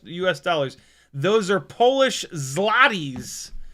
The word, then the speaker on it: złoty: Is that how it's pronounced? Zloty? Zlot Zlotich? How do I pronounce Polish zlo Złoty in English. Tell me. Złoty Oh man, come on now. Złoty Złoty Złoty Ah, I can